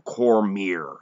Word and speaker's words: Cormier: anyway in the entrance he didn't called him Cormier so I think this get they would know